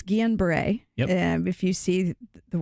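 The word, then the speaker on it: Guillain-Barré: to you because I fear butchering both the pronunciation and also what it means it's unusual and so it's Guillen Bray yeah if you see the word - aid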